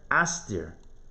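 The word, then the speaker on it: אסתיר: Talmud says right here, Haster, Astir. Astir like Esther. Right? Like the Queen Esther. Astir, it's spelled a little bit differently with an extra yud, but Esther.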